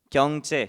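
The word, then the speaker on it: 경제: It's pronounced 経済 in Japanese, Gyeongche in Korean, and it also has a different pronunciation in Vietnamese.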